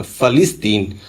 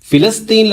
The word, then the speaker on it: فلسطین: الٹ تحقیق کی ہے۔ مرزا کا کہنا ہے کہ فا کے اوپر زبر اور لام کے نیچے کسرہ پڑا جائے گا، فلسطین، حالانکہ لسان العرب میں